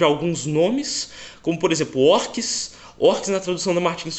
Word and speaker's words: orques: Umas coisas que tinha na Martins Fontes era a tradução de alguns nomes, como por exemplo orques. Orques na tradução da Martins Fontes escrevia O-R-C-S, orques. Aqui se escreve com Q-U-I-E, orques.